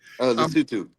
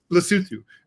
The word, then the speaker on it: Lesotho: Or, Lesotho, whose name I mispronounced, and I know you pronounce correctly. Lesotho. Lesotho.